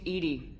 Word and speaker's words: EDI: why are you named edie is the phonetic pronunciation of edi that is an acronym for enhanced defense intelligence where are you my